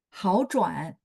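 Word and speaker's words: 好转: 好转，好转, 转 nya ada 3 ya teman-teman ya, 好转, makanya haunya berubah jadi nada 2. Jadi 3 ketemu 3 depannya baca nada 2 ya, tapi tulisannya tetap 3 ya.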